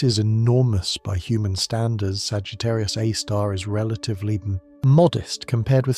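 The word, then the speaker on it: Sagittarius A*: massive black hole called Sagittarius, a star. Scientists pronounce its name as Sagittarius, a star. Even though the symbol used in astronomy is the letter A, followed by a small star.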